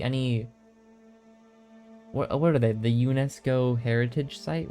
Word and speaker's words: UNESCO: what are they the UNESCO heritage site right am I pronouncing that right I want to say it's unisco but um any location on